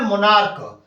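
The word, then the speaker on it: monarch: राजा यहां देख रहे मोनार्क इसको हम क पढ़ रहे हैं सी को क पढ़ रहे हैं जब शब्द का सीच का उच्चारण क की तरह होता है तो हम यहां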